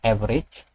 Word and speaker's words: average: Setelah itu ketik nama rumusnya, dalam hal ini average, tulisannya average tapi bacanya average.